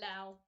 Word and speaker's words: Lao: When it's Lao, is that how you pronounce? Yeah, Lao.